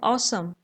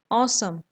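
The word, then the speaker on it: awesome: मौसम इसमें हमें दिखेगी इसकी स्पेलिंग जैसे अवेसम लिखा है पर इसका प्रनंसीएशन होता है ऑसम ऑसम ओके और समय जब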